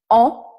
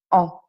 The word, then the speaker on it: en: Aujourd'hui, nous allons nous intéresser à la préposition en, donc en, ça se prononce en.